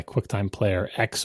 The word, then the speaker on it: QuickTime Player X: that was replaced by QuickTime Player X or 10 depending on how you want to pronounce it um which was totally